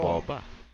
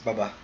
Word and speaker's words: Boba: What's the right Si pronunciation? Boba lang. Boba. Baba rin, man. Baba. It's Baba. Parang yung like the drink or something.